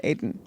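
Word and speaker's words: Adin: called Aiden Ross yeah but it's spelled ad ien Aid in actually wouldn't that be addin oh maybe but it's Aiden Aiden somebody didn't win the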